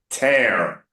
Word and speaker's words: tear: Busy, dizzy. Tear, prayer. Hear it? Tear, prayer. It rhymes.